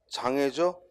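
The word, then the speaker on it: 障礙: 그 다음 그 옆에는 장애죠. 장애, 어려움이라는 뜻이야. 특히 애자가 도금이 쉽지 않죠. 돌속자하고 어들득자가 있으니까 이게 도금이 쉽지가 않습니다. 주의해야지. 돌속자에 어들득자가 있는데 이게 이 득이라고 발음하기 쉬운데 득이라고 발음하기 쉬운데 애자야, 그죠?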